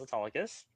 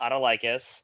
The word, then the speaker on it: Autolycus: And then Saturday, I was Autolycus, not Autolycus. Good job.